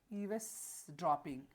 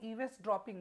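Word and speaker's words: eavesdropping: चलिए अगला जो है ईवेस ड्रॉपिंग। ये जो है इव्स ड्रॉपिंग, इसको ईवेस ड्रॉपिंग मत पढ़िए, इसको पढ़िए ईव्स ड्रॉपिंग।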